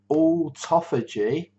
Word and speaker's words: autophagy: I kind of break it down into 3 syllables. That's the way I managed to say it.